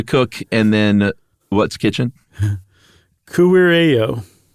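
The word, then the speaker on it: kuirejo: EJO, and the J's are pronounced as a Y.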